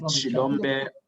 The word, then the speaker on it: Xilombe: Shilombe, I'll spell it for you.